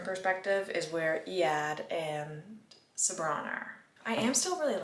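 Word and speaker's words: Sabran: He was actually banished by Sabbron. That is how you pronounce her name, not Sabrin.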